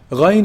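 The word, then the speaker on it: غين: Ghayn is pronounced from the highest part of the throat.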